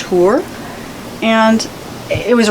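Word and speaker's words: Hoare: for her being adria that's spelled h-o-a-r-e it's pronounced hoor and it was right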